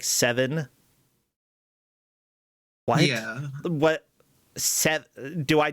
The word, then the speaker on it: Sever: You know, Sever is pronounced like 7. What? Yeah. What? Do I just say 7 then? Because I thought Sever was pronounced like Sever.